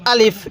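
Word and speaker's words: ألف: নরম করে হবে দেখুন আলিফ এর মধ্যে আমরা কোন টান দিব না আলিফ এটা স্পষ্ট তাড়াতাড়ি করে উচ্চারণ করব এরপরে বা আমাদের এই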